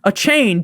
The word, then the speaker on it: Achane: At number 19, we got Devin Achane. Devin 2 Chains. Nick, you say his name wrong all the time.